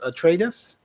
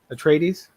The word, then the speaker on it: Atreides: dune house uh how do you say this a tradis atreides atreides there you go action comics the walking dead